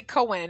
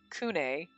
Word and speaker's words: Kune: I say Cohen, and it's supposed to be like Kune. The Ne makes sense because of how it's spelled, and Ne would be how you would say N-E Japanese.